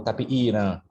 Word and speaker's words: tapiiran: Então, a gente tem, por exemplo, reflexos de um étimo proto-tupi-guarani como tapiira, anta, e no Amapari o reflexo desse étimo se pronuncia como tapiiran.